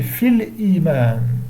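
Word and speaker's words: في الإيمان: Et comme le hamza, c'est pas harf jar, on dit fil iman. Donc dans la liaison, on dit fil iman. Je ne dis pas fil iman, non. Il ne prononce pas le ya dans la liaison.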